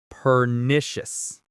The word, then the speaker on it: pernicious: Let's say it pernicious. Pernicious. The stress is on the nish.